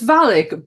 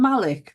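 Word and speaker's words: Valek: names but so I it's Valic but originally in my not I was calling him Malik because I couldn't quite hear the pronunciation properly but L for this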